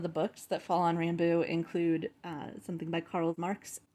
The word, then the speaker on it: Ranboo: It's Ranboo? Rumbus? Ranboo.